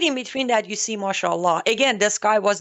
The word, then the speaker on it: mashallah: Mashallah.